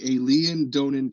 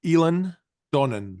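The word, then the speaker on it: Eilean Donan: pronunciation on this the alen Donan castle how do how do I say that well it's it's pronounced elen Donan El elen the elen Donan castle yeah um and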